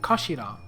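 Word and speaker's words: 頭: end of the hilt it's written as head in Japanese but pronounced as Kashira I kashio so this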